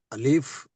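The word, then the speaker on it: ألف: yes um an yeah alif g H yeah here it is alif there's no prolongation you have to limit it a l i f not a Lou E F that's only little bit correction the rest everything correct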